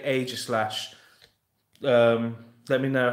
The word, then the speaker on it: Aegislash: Now, I know loads of people say it differently, but I say Aegislash. Let me know how you guys pronounce it.